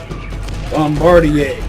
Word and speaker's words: Bombardier: else must have hopped on that mole sober Bombardier yes that is the right way to say